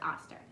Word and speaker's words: Oster: address this um with your Oster oven auster I think it's pronounced auster but the temp has